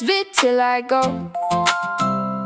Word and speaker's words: vitiligo: If you can't pronounce it, it's pronounced vitiligo.